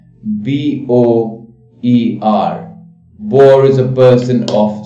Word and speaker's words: Boer: All of them are pronounced Boer, but they have different spellings.